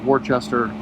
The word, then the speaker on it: Worcester: It's like why I call, New England City is Worcester. I do it because that's how it's spelled.